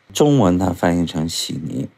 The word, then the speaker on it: 悉尼: spelled as "Sydney" 中文它翻译成悉尼 In Chinese it is translated as "xi ni" 那么如果把每一个字节发出来它叫悉地尼 If we break down each character, it becomes "xi di ni" 悉地尼所以他们简称悉尼 Xi di ni, so they call xi ni for short.